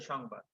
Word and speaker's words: সংবাদ: হবে ঠিক তেমনি হবে সংবাদ দন্তস এর সাথে কি আছে অ আছে তারপরে অনুস্বার এসেছে সুতরাং সংবাদ সং উচ্চারণ হচ্ছে সংবাদ মর্ম ঠিক একই ভাবে